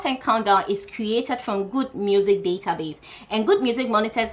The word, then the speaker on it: GHUD Music: Their Good Music is spelled GHUD Music, so Good Music.